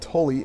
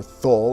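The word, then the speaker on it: Thule: There was even a famous crash of a B-52 near what was called Tully Air Base at the time, or Thul if you want to pronounce it exactly as it's spelled.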